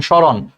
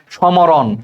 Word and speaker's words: স্মরণ: এরপরে চলে আসো, শব্দের আদ্য ব্যঞ্জন বর্ণে ম ফলা যুক্ত হলে সেই ম অনুচ্চারিত থাকে। আদ্য মানে আগে, তাহলে শব্দের একদম আগে যদি ম ফলা থাকে, যেমন স্মরণ, স্মরণ বানানটা দেখো শব্দের একদম আগে ম আছে, তাহলে দেখো সেই উচ্চারণ করার সময় কিন্তু সেই মটা উচ্চারিত হয় না। আমরা কি কোথাও বলি সমরণ? সমরণ কিন্তু আমরা বলি না, স্মরণ বলি।